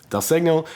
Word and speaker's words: segno: called dial signal or Del second pronounce it it's Italian Del segno and that tells you